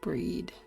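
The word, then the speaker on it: Bríd: the name Bridget I miss Irish saint it's pronounced with the long e h more to the English word breed oh her name's not bread it's breed let's breach breach no she doesn't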